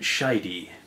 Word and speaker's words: Scheide: and first up is Bridget shidy yes I was surprised that her name is pronounced like that as well but not